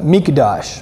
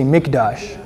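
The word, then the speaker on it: מקדש: Hebrew word for the sanctuary too it's a mikdash everybody say mikdash and you spell that m i k in English you spell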